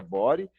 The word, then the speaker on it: body: código código chamado body eu escrevi body mas deve se pronuncia bori e aqui eu vou